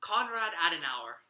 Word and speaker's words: Konrad Adenauer: like speeches from the transferor Conrad how you pronounce house uh come Konrad Adenauer as an hour thank you yeah which I